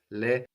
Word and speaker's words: les: So again, now we have les for them, pronounced les, but the S is popping up again, activated by the vowel of attendre, and that S between vowels sounds like a Z.